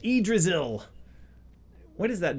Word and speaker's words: Yggdrasil: Yggdrasil. That's how you say it. Yggdrasil.